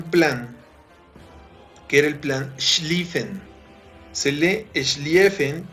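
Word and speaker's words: Schlieffen: alemania tenía un plan que era el plan li feng se lee es lee efe pero se pronuncia es li feng es en alemán este señor alfredo font stephen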